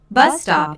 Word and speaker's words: bus stop: used to check information bus stop is a compound noun with the main stress on the first word oh is an exclamation